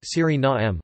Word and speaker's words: Suriname: In Dutch, the official language of Suriname, the pronunciation is Surinaam, with the main stress on the third syllable and a schwa terminal vowel.